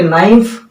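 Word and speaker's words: knife: कनाइफ नहीं बल्कि नाइफ, के साइलेंट है, औरंग नहीं बल्कि रॉन्ग, W साइलेंट है, कनॉलेज नहीं बल्कि नॉलेज, के साइलेंट है।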